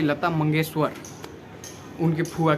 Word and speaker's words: मंगेशकर: उनका नाम था लता मंगेशकर, मंगेशकर नहीं। जो आपने बोला है लता मंगेशकर, ये नाम गलत है।